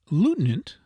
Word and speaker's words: lieutenant: To this class belong clerk, cucumber, and gold, which are often pronounced as spelled, though it were better and more in conformity with polite usage to say Clark, cowumber, not cowcumber, and gould lutinant lieutenant.